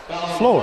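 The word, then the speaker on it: Flohr: That Floor is spelled F-L-O-H-R. Floor.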